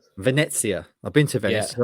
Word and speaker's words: Venezia: What's the correct pronunciation? Venezia. Venezia.